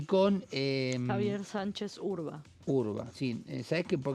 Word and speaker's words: Urba: con eh Javier Sánchez Urba Urba. Sí, sabes que por qué lo pensé porque no quería no quería decir mal el el apellido. W RBA, pero se pronuncia urba.